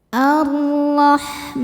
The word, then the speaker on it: Ar-Rahman: Alif lamnya dihukumi alif lam syamsiyah karena setelah alif lam ada huruf syamsiyah yaitu huruf ro. Maka cara bacanya lam tidak dibaca atau dileburkan. Allah. Ro dibaca tafkhim karena harokatnya fathah. Cara bacanya ditebalkan. Ar-Rahman.